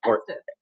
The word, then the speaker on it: Estes: Estes.